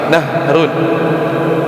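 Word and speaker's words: نَهْرٌ: tafadal naharun siap ah kalau sungai itu hnya pendek ya kan kalau tadi siang itu naharun tapi kalau sungai nahrun Hnya sukun nahrun seperti itu. Nahrun.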